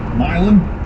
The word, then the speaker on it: Milan: I believe he was born in, I think it's pronounced Milan, but in Ohio it's probably pronounced Milan.